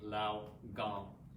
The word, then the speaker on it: lao gong: again we're massaging the lao gong points and it's spelled l-a-o word is g-o-n-g lao gong so we'll do two more pushes relax the